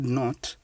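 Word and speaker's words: knot: For the word not, the K is silent, which is why we ignore it.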